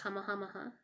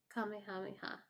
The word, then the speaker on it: Kamehameha: My only pet peeve is it's pronounced Kamehameha. Oh no, I'm messing it up. Kamehameha. Yeah. It's a ha at the end.